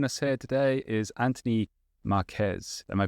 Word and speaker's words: Marques: Marques?